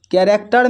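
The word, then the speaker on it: character: देखिए यहाँ पर इसको पढ़ते हैं आवर, यहाँ पर देखिए एच के बाद ओ है तो एच साइलेंट है, इसको पढ़ रहे हैं आवर।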